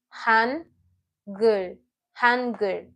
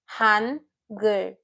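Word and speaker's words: 한글: This is Han and Gur. Han, Gur. Hangul. This is a two-syllable word. Hangul.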